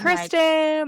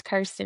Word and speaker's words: Kirsten: Like Kristen like we did for like we still do cuz all my friends are named Kristen. I'm like oh my gosh it's Kirsten. It's Kirsten.